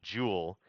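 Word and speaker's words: joule: unit of energy now it's spelled after an old Dead Guy j u l e Jewel okay so if I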